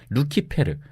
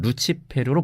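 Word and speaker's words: Lucifer: 이렇게 루시퍼가 사탄의 이름이라는 관념은이 구절의 헬레 라틴어 성경에서는 루키페르 혹은 루치페르로 번역된 데에서 비롯된 건데요. 루시퍼는이 루키페르의 영어식 발음입니다.이 단어가 원래 라틴어에서 가졌던 사전적 의미 역시 새벽의 금성입니다.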